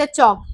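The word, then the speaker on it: chalk: यई नहीं आता है नेक्स्ट चौक इसमें एल एल साइलेंट है तो और किसम साइलेंट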